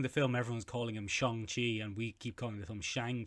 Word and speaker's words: Shang-Chi: the line and say shong chi is that the correct pronunciation michael well that's a hard one to answer ben oh because that's how you would pronounce it in chinese hmm but also you